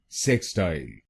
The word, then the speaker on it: sextile: पहली प्रोनाउंसिएशन है सेक्सटाइल। सेक्सटाइल। इस शब्द में दो शब्दांश हैं, सेक स्टाइल। सेक स्टाइल तो बनेगा सेक्सटाइल। सेक्सटाइल। और इसमें आपको पहले शब्दांश पर जोर डालना है, सेक्सटाइल।